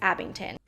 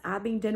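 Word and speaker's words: Abingdon: the mark on this reads abington no it's abbing done with a d and yes i mispronounced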